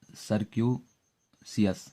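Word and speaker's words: circuitous: चलिए अगला वर्ड है सर्क्यूसियस। सर्क्यूसियस, यहाँ मैं बता दूं कि टी साइलेंट है ना।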